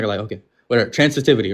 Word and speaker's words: transitivity: Trans transfity. Transitivity bro.